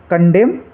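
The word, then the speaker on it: condemn: ऐसे ही कंडेम, तो कंडेम में लास्ट में एन है, उससे पहले एम है, तो एन को साइलेंट रखेंगे, इसको हम कंडेम पढ़ेंगे।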